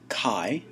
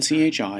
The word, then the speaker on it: chi: squared procedure is named after the Greek letter Kai it's the kai squar distribution is the distribution we'll use um it's the Greek letter Kai it's written Chi it's pronounced Ka Ai and it's the ancestor